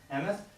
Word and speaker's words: Emmoth: Okay, David Orr here with Emmoth, right? Yep. Emmoth? How do you, Yep. how do you say it? Emmoth.